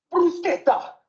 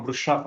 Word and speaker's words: bruschetta: Bruschetta! Sulla pronuncia della parola bruschetta che c'era. Perché in inglese la chiamano brusciata.